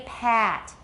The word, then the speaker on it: pat: Because all you have to do is open your mouth about as wide as you can and make it long. Everybody pat.